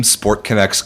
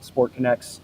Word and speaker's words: SportConX: So our owner, coach, manager, John Tolentino, owns this company, this app, SportConX, that's going to be launching this summer. It's connects connects with an X for pronunciation.